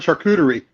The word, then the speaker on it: charcuterie: short goodies that's how I learned how to pronounce the word charcuterie because when I looked at it I'm like